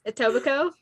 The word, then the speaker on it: Etobicoke: Okay, so it's Etobicoke. I said that. You ended with a Coke. It has Coke in it. The E is silent.